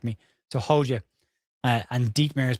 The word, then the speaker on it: Hodja: The J-A is pronounced Y-A, apparently. Someone's going to correct me. So, Hodja.